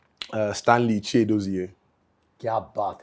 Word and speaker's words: स्टैनली: कि मेरा नाम है स्टैनली। यूपी में लोग ना मेरे नाम की गलत प्रोनाउंस करता है, स्टालिन।